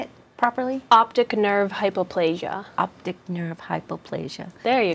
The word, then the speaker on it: optic nerve hypoplasia: for that how do you say it properly optic nerve hypoplasia optic nerve hypoplasia there you go sharing very